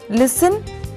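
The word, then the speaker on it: listen: लिसन, सुनना, इसमें T silent है।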